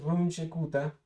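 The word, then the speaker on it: Runge-Kutta: que nos queda este método es runchecuta así es que se pronuncia fue diseñado Pues por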